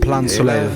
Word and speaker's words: Plein Soleil: Oh, so it's pronounced Plein Soleil.